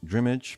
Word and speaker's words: Dreamage: game publishing called Hybe IM and has recently rebranded this company into DreamAge, spelled Dreamage, but it is a combination of the keywords dream, interactive media, and age. So DreamAge is how you pronounce it.